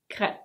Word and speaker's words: crêpe: So yes, this is a French word, and in French it's pronounced crêpe. Crêpe. But we don't say it that way in English.